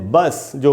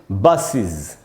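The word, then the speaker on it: buses: जैसे बस जो होती है जिसमें हम बैठ के यात्रा करते हैं, उसके एंड में अगर ई एस लगाए तो इसको हम पढ़ेंगे बसेज। इसको बसेज नहीं बोलना चाहिए, तो इसको पढ़ेंगे दोस्तों हम बसेज, बसेज।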